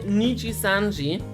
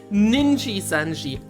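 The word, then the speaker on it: Nijisanji: Instead of saying Nichi-sanji, he says Ninji-sanji.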